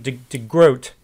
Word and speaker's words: de Groot: name Heisman they mispronounce I mispronounced the groats name and I was calling him DeGroot so I'll try during this video to call him de grote anyway so what Adrian